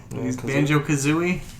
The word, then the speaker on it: Banjo Kazooie: banjo all right so banjo cuz right he's named after the musical instrument like a banjo and a kazoo Banjo Kazooie I like banoi so